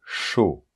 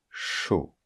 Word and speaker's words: chaud: c'est ch par exemple chaud ok chaud et attention c'est pas ch chudok pour former le son